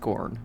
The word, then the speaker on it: Kern: I know it's pronounced corn, obviously, but we call it Kern.